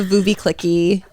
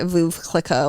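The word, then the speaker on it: Veuve Clicquot: Yeah, it's I just want to be, it's the Vouvy Clicky. I know that's not how you say it, Vouv Clicquot or whatever.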